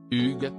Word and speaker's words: Hugues: dernier lui a finalement recommandé de le prononcer à la française Hugues si et si parfait